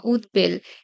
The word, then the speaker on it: উদ্বেল: আবার ভবিষ্যৎবাণী বা উদ্বেল এখানে ব ফলার উচ্চারণ অবিকৃত থাকবে, দ্বিত্ব হবে না।